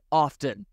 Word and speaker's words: often: The only thing that is more irritating, Dave concludes, is pronouncing the T in often.